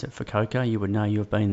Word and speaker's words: Fukuoka: We pronounce it Fukuoka, but they seem to pronounce it Fukuoka.